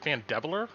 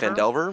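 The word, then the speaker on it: Phandelver: Is it Fandeveler or is it Fandever? Fandelver.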